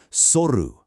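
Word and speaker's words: 剃る: in your daily routine, soru means to shave. Now, this requires a nice crisp pronunciation on that first syllable. Try it with me. You've got this. Soru.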